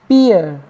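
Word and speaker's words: peer: 14 लेकिन ध्यान रखिएगा कुछ वर्ड ऐसे होते जिसमें डबल ई आने पर हम ई का उच्चारण नहीं करते जैसे देखेंगे पी डबल ई आर पीर इसको हम क्या पढ़ते हैं पियर इसका मतलब आ एक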